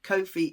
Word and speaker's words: Ko-fi: Ko-fi is a creator support page. It's a bit like Patreon. It's spelled Ko-fi. It's like coffee, but Ko-fi.